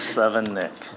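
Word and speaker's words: Sevenich: mispronouncing my name today it's seven nick my tongue is the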